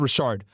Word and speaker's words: Richard: or Don Richard, whatever it's called. She pronounces it Rashard.